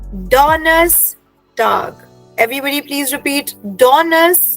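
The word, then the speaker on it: Donnerstag: ahead to the next one Thursday is called डोनर्स टग डोनस tug every everybody please repeat डोनस टाग alright now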